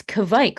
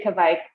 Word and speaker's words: kveik: start about talking about it's Kavik right I we were gonna discuss how to pronounce it it's Kavik how does everyone say it I say Kik like Viking is how I associate oh that's good smart